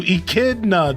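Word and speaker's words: echidna: Thank you, Ekkidna.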